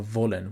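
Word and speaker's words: wollen: this verb is that there is going to be a contrast between the pronunciation of w in English and German you need to understand that in German the pronunciation of w is labia Dental it is which means the teeth touch the lower lip now volun whereas in English you protrude your lips and you say Wallen now we don't want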